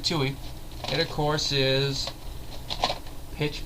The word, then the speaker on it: Twohy: and directed by David I'm gonna see if I can pronounce his name correctly toe I'm gonna probably watched his name t-w-o-h-y you see I can't believe it you know just look I can't believe I thought that would be hard to pronounce David Tui it of course is